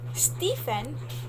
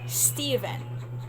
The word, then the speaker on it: Stephen: in school right so instead of saying stefan from the names stephen s s-t-e-b-h-e-n and american people that's stephen stephen so when you're going